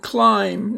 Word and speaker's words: climb: First, we have the word climb. Notice you don't say climb, you just say climb, so the B is silent.